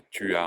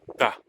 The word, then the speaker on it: t'as: Pour finir, la disparition du U dans tu. Si je dis tu as un vélo, on ne dira pas tu as un vélo, on dira t'as un vélo. Le U n'apparaît pas.